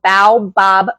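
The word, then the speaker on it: baobab: Yes, the the powder that I use is called Bow Bob powder. I buy the one from Bulk Supplements. It's spelled B A O B A B Fruit Powder.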